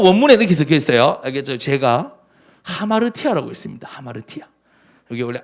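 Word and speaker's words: ἁμαρτία: 여기 붙으면 하가 돼요 요거는 p가 아니고 로라고 합니다 그래서 R 발음이나요 하마를 타우 요건 심플해서 안 붙여도 돼요 자 여기에 성경 원문에 이렇게 적혀 있어요 제가 하마르티아라고 있습니다 하마루티아 여기 원래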